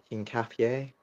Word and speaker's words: Hincapié: Hincapié.